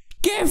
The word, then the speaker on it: GIF: a list of words where a hard G is used instead of a soft G so the fact that you can actually create an article small enough to list them should clue you in a bit okay well let's examine that article here's the same article I found it a list of English words where G is pronounced exceptionally oh look gif fits in there wow what a great